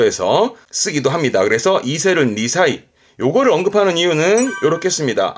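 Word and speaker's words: 二才: 발음은 니사입니다. 이 니사이는 뭘 의미하냐면 이겁니다.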